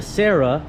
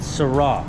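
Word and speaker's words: Cera: Everyone calls it a Sera, but it is pronounced Sera, like que sera, like what will be, it will be.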